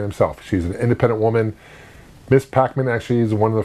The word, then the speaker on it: Ms. Pac-Man: But Miss Pac-Man, go to Miss Pac-Man. Not Mrs. Pac-Man, by the way. A lot of people mispronounce it as Mrs. Pac-Man. No, it's Miss Pac-Man.